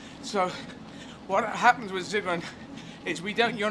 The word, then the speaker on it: Sigrun: And what Sigrun, and I should pronounce the first letter of your name as a Z, shouldn't I? Sigrun, as opposed to Sigrun. Well, you pronounce Sigrun. I would pronounce it. Well, the S is fine. It's just how long. But if it's German, everyone else will call you Sigrun, yeah? Yeah. With a Z sound.